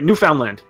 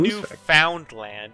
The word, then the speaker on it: Newfoundland: I got moose factory Newfoundland yes nice I got moose factory it's the neighborhood it's literally fun new found land its Newfoundland well I I pronounce